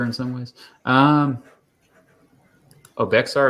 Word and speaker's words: Bexar: some ways um oh bexar is pronounced like bear did you know that